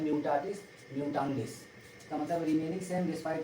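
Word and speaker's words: mutatis mutandis: देखिए क्या दिया है, म्यूटाटिस, प्रोनाउंसिएशन है म्यूटाटिस, म्यूटांडिस, इसका मतलब रिमेनिंग सेम डिस्पाइट चेंजेस।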